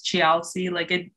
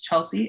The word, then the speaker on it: Chealsea: Cause who says Chealsea? The way it's supposed to be pronounced is Chelsea, and that's how everyone pronounces it.